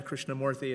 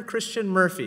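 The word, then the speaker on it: Krishnamoorthi: the other day I I introduced myself I said hi my name is Roger Krishna morthy and someone said Roger Christian Murphy very nice to meet you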